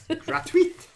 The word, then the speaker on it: gratuit: Do we pronounce that last T? No, it's got to be gratuit, because if there was an E after it, you'd say the T. Yes. But if there's no E after it, you don't say the T.